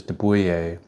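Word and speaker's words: de Buyer: uh and then there's deuer uh it's spelled like d e b y like deer it's a French brand uh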